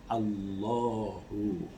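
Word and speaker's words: الله: Kemudian kata Al-Ilah, Hamzah kasrohnya itu I, Al-I, I-nya itu dibuang, lalu tinggallah lam mati diikuti dengan lam hidup. Jadi Allahu, lalu dibacanya tebal menjadi Allahu.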